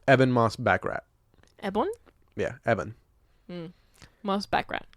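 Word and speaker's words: Ebon Moss-Bachrach: Eben Moss Backrat.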